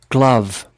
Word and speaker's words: glove: glove, Glove. I thought this is, diphthong, like glow. Oh, glow, but actually glove.